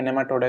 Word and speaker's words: नेमाटोडा: सबसे पहले आप प्रोनाउंसिएशन करना सीखेंगे, नेमाटोडा इसको बोलेंगे।